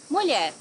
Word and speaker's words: Mulher: Mulher, woman. Mulher has this lhe, which is LH.